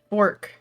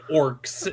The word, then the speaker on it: fork: Yes, you're saying that it's almost like orcs is how you're saying it. You're barely pronouncing the F with your normal accent. You're like, Not even barely. She ain't pronouncing it at all. Fork!